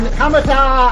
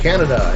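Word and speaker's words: Kaneda: And there's this biker gang with this kid named Tetsu and this other Kamata. I think that's how you pronounce it. Like Canada is right. Yes, Canada. And Tetsu just starts developing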